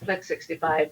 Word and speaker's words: Phlex65: Yes, Plex 65 is spelled with a PH, so PHLEX 65, because a lot of